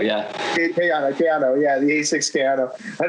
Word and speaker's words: Kayano: Right now, I'm running the Asics Kayano, but how do you pronounce it? Kayana? Kayano, yeah. Kayano, yeah, the Asics Kayano.